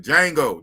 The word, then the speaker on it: Django: man you can dang the django the d is silent man you know what